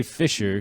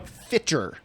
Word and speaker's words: Fitcher: I real hard and you didn't say fisher no fiter fiter as in pitcher but starting with f as in Frank fer like I heard